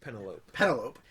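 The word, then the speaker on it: Penélope: That's not true, and it's pronounced Penelope.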